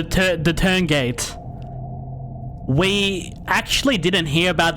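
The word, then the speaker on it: Tuurngait: Okay, so it's called it's pronounced the Turngate.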